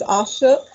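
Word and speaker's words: Asok: these, you'll see that I believe his name is Ashok. That's what I think the Gilbert creator has said the pronunciation is.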